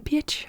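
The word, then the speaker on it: Pirc: Peter Svidler video, that it's actually not called the perk. What is it called? Peerts. The Peerch. Okay. Yeah, the Peerch. I have heard many different pronunciations, but the Peerch. Yeah, apparently it's how you pronounce that name. The Peerch. But it's spelled P-I-R-C, so everybody says perk.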